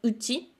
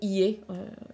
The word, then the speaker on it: 家: a les furigana au-dessus pour vous aider à savoir si l'auteur il voulait vous faire lire ie ou bien uchi. Soit après, soit vous pouvez décider en fait si vous lisez l'un ou l'autre, soit sinon, voilà, vous pouvez le lire par défaut ie, il n'y aura pas